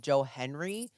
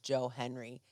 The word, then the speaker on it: Joe Hendry: people are calling him Joe Henry and it's not Joe Henry it's Joe Henry there's a D in there so don't get it